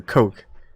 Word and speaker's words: Koch: ] all night and that cook just didn't seem correct it's a coke alright Koch brothers I